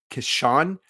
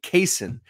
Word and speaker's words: Kaysen: I had been saying Kashawn prior. It's actually Kaysen prior. I noticed it because he actually put the pronunciation on his Twitter profile.